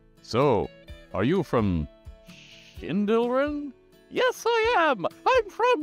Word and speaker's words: Sschindylryn: So how, before all the gods, would you pronounce that? Well, the answer is Sschindylryn. Sschindylryn. So, are you from Sschindylryn?